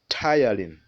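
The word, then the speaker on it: ptyalin: saliva is called saliva amylase sometimes it's called tylene that word can be pronounced as tylene so we have the tongue the tongue rolls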